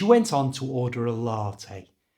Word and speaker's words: latte: on to order a latte notice the pronunciation of this word it's not typically English it's l LTE you